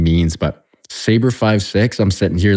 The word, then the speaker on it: Sabre56: sign out in Iraq so you would never pronounce it name numbers you know I was always uh saber five six for uh freeze of recognition so that's where